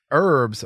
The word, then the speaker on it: herbs: it's the agent so the H is silent I don't know if